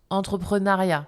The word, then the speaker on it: entrepreneuriat: Alors, ça s'écrit entrepreneuriat, on le prononce entrepreneuriat.